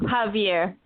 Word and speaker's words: Xavier: actually my cousin's son xavier or xavier javier it's pronounced javier javier fuentes was um